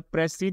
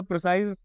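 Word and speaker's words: précis: में फर्क होता है मुझे हमेशा प्रेसा जो वर्ड है ना वो प्रोनाउंस मतलब की मुह से निकल जाता है इसको जनरली हम प्रेसी करके बोलते हैं ठीक है प्रेसी ठीक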